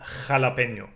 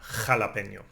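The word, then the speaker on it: jalapeño: Always like in jalapeno, no? Scraping your throat again, jalapeno, no?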